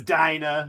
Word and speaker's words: Dinah: Thanks, Dinah. It's not my fault. Um, it's you. Why Good, does we're gonna everyone have a mis- tranny edition. Why does everyone mispronounce her name? Her name is Dina.